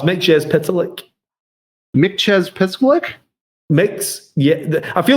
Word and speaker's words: Mxyzptlk: Mxyzptlk. I like being out there in the background and nobody can stop me. So it's not. I always say Mxyzptlk. Oh, it's Mxyzptlk.